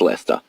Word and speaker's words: Leicester: is a common thing apparently North Americans cannot pronounce a Leicester that does not look like the word Leicester it's Lester that doesn't it's less